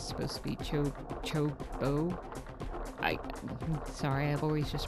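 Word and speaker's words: Chocobo: And I I'm sorry if I do say Chocoo incorrectly because it's supposed to be Cho Chobbo. I sorry I've always just pronounced it chocoo because in PS1 we didn't know how to say Chocoo.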